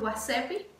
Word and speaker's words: WhatsApp: Facebook, aquí no se pronuncia Facebook, se dice Facebooki. TikTok es TikToki. WhatsApp es WhatsAppi, WhatsAppi, WhatsAppi o una cosa así.